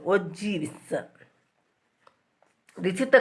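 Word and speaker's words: ogive: OGs, that is the correct pronunciation. OGs.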